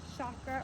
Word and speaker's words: chakra: Manipura chakra, or chakra, is the way the ancient pronunciation was. More the American pronunciation has turned it kind of into chakra or chakra, you'll hear, but I think the old ancient way is chakra.